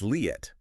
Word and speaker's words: Leat: And just quickly pronunciation, the creator's name, Leat. Ah, good point. It's Leat. Leat and her father, Nissim. That's Nissim. Lead and Nissim.